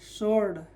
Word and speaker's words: sword: ठीक है, SWORD सोर्ड। तो पहला नियम क्या है, W साइलेंट होने के, एस के बाद अगर W आए तो W साइलेंट होगा।